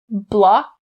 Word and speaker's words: block: sound distinctly or you can stop the k sound so i'll do both now block block block and i'll stop the sound blah blah notice i'm not saying blah blah not correct blah blah now block